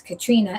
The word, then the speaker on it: Caitriona: And it's spelled C A I T R I O N A. And to me it would be like Katrina or whatever, but it's Katrina.